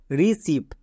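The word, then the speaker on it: receive: জন্য সাউন্ড হই হসই যেমন দেখো রিসিভ এখানে ই আই আছে ই আই এর জন্য হসই সাউন্ড হই আমরা সবাই জানি ই এর জন্য হস্ আবার আই এর জন্য হস্ দুটো হসই একসাথে বসতে পারে না তাই ই আই এর জন্য একটা হস্ তাহলে আর ই রি সি ই আই ভি ই সিভ রিসিভ এখানে ই আই এর জন্য ই সাউন্ড হয়েছে নেক্সট রিসিভ এখানেও দেখো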